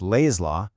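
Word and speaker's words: L'AI's Law: Welcome to Lays Law. And just so you know, it's pronounced Lays Law, L A Y. You know, for the lay person.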